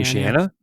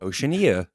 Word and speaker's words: Oceania: say it sherb ocean oceana oceana but it's not this it's an ia say it again with the iaea well oceania yeah yeah i've heard